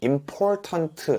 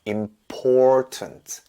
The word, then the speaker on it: important: 아메리카노 이렇게 해야 되고요 임포턴트 인포턴트 아니에요 important 강세가 들어있어요 important interesting 아니고요 intrusting